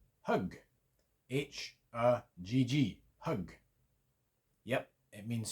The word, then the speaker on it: högg: But an example of the pronunciation difference. Hög, hugg.